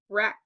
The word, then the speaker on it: wreck: When the letters W and R are together, the W is silent.